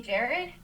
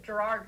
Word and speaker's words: Gerad: what Adam put, because a lot of people pronounce your name Gerard Parker, and I told you I covered you at Penn State, and people would still say it up there as Gerard Parker. So Adam put on your pronunciation guide, it can only be Gerad, and people are just loving it.